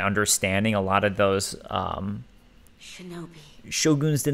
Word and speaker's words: shogun: during the era of Shogun chill goons it's actually pronounced show goon show goons and all that so